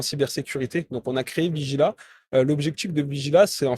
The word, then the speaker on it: Vigila: Puis, qu'est-ce qui t'a mené à aujourd'hui dans l'entreprise Vigilia? C'est bien ça? Vigila. Hein? Vigila, parfait. J'ai rajouté une syllabe de trop, là.